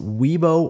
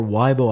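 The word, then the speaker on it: Weibo: the Chinese social network pronounced weeo or WBO I believe someone who is part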